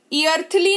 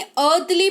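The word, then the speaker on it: earthly: ईर्थली नहीं अर्थली पढ़ेंगे, जिसका मतलब होता है सांसारिक। तो ई के तुरंत बाद AR दिख जाए तो ई जो है वो साइलेंट होता है, ठीक है?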